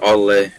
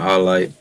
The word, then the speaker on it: au lait: I think it's pronounced ole, not alite.